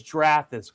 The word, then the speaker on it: Drathus: I think I'm pretty sure he said it's Drathus cuz it cuz he said it rhymes with Wrath.